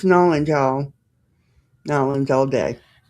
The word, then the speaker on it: New Orleans: It's Nolans, y'all.